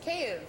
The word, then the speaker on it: Kyiv: It's not Kiev, it's Kyiv.